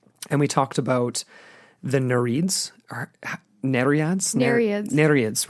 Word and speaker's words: Nereids: And we talked about the Nereids, or Nereids? Nereids, right. Thank you for correcting me. Sorry. I pronounced it the same way on that episode too.